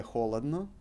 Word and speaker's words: холодно: So, тебе жарко, тебе холодно. We would put emphasis on o here. That's why we also pronounce it as o and not as a.